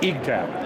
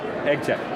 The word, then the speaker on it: Eagtac: The correct pronunciation is Eagtac, yeah, or Eagtac.